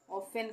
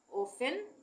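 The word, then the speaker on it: often: हमेशा ऑलवेज हमेशा ऑफेन ऑफेन का मतलब अक्सर यहां पर टी साइलेंट है यानी भी यहां पर टी का उच्चारण नहीं हो रहा है ऑफेन ऑफेन का मतलब अक्सर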